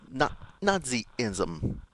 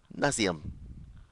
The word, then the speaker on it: Nazism: When the country recently faced up the challenge of Hitler and Nazism, not Nazism, Nazism. What's this? I think I pronounced it Nazism.